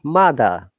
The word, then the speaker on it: mother: So similarly, a good example it would be mother. Okay, look, R is at the end. Mother is not, R is not pronounced. But mother, Americans will say mother.